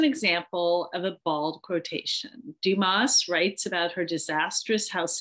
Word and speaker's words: Dumas: Dumas writes about her, I don't know if she says Dumas or Dumas. I bet it's Dumas because it's French. And usually in French, you don't pronounce the S at the end because her husband's French.